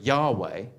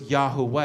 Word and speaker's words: Yahweh: Because I used to pronounce the name Yahweh. But I knew it wasn't just straight Yahweh. It was Yahweh. You had those 3 syllables in there.